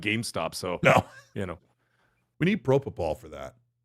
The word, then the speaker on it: propofol: We need Propofol for that. How do you say it? Propofol. Propofol. It's like prop and then O-F-O-L. That would be Propofol.